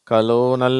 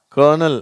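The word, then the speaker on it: colonel: வதி certain கர்னல் சரியா இந்த வார்த்தையில ஆரே இல்ல இருந்தாலும் அந்த உச்சரிப்பு இது கலோனல் அப்படின்னல்லாம் படிக்கிறாங்க அது தப்பு இது கர்னல் அதுதான் கரெக்ட் சரியா சொல்லுங்க கர்னல் கன்வர்ட் இதுல கான்வர்ட் அப்படின்ற ஒரு வார்த்தையும் உண்டு.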